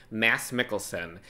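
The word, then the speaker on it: Mads Mikkelsen: Because I just realized, first of all, I figured out how to pronounce his name. It's Mass Mikkelson and he played Casilius in Doctor Strange.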